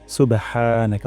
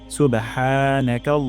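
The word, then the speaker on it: سُبْحَانَكَ: আমরা চেক করব নাকাল্লাহুম্মা সুবহানাকা তারপর ওয়াবিহামদিকা এর উপর এখানে মার্ক দেওয়া আছে এই হাটা আমাদের গলায় উচ্চারণ হচ্ছে কিনা আমরা দেখব হা গলার মাঝখান থেকে উচ্চারণ করব হামদিকা এখানে উচ্চারণ করবো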